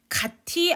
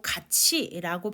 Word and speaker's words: 같이: 우리 같이 아니요 같이라고 발음하지요.